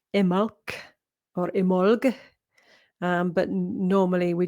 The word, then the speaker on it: Imbolc: So it's actually pronounced, or should be pronounced, Imolc or Imolg, but normally we just pronounce Imbolc at the moment. But it's Imolc without the B sound, if you want to be proper.